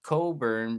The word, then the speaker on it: Cockburn: a street in Winnipeg called Coburn but it's spelled Cockburn yeah the whole CK you're